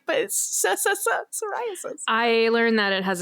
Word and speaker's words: psoriasis: if your name was psoriasis and trying to tell them that the p is silent like like trying to